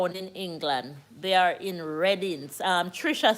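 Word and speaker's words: Reading: England they are in reding um Trisha say it is spell r e a d i n g like when you read something but it is pronounce red r e d d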